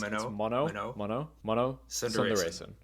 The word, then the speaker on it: Mano Sundaresan: unfortunately, plug music explainer, now turned party promoter, Mano Sundaresan. Did I say that right? I'll guide you through it. It's Mano Sundaresan.